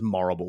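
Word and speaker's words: Morrible: Um like I think the whole thing with Morble is that you don't aside from having her name as Morble, which rhymes with horrible, she doesn't immediately come off of as a villain until you meet her at the wizard's palace.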